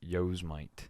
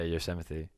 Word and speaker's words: Yosemite: as well so um yosemite is not pronounced yos might my dad made fun of me for that for like a month yeah you're sympathy that's how you say it yeah you're 70.